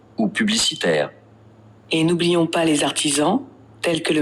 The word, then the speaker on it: artisans: S is in the middle of two vowels, so it is pronounced as Z. Also, there is a liaison between les and artisans. So, les artisans.